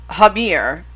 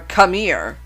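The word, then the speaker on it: Khmer: was populated by Hindu native people the the hamir or kamir that's KH h m e r i don't think I butchered it but if I did one shot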